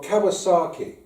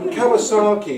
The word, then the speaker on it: Kawczynski: to be MP for Shrewsbury, they said, well, Kawczynski, it's not a very Shropshire name, is it? They didn't quite pronounce it as well as your chairman. Kawczynski, it's not a very Shropshire name.